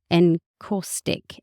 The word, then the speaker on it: Encaustic: Glass, stone and encaustic.